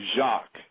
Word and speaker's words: Jacque: name is Jacques. That's spelled Jacque.